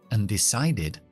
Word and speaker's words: undecided: Otra vez, decide. Aquí tenemos la E al principio, que es la sílaba no acentuada porque es un verbo, y hemos dicho que la E se suele convertirse en la I cuando nos acentúa al principio.